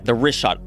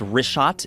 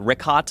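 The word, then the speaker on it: Richat: Egypt it Joe you got to go yeah rot r i c h a t it's worth mentioning that got yeah in the first couple I just want to say it's rot I used to call it Riot I was mispronouncing it but let me ask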